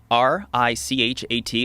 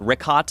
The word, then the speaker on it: Richat: Yeah, the Richat, R-I-C-H-A-T. It's worth mentioning got it already here. Yeah, in the first couple, I just want to say it's Richat. I used to call it Ricot. I was mispronouncing it.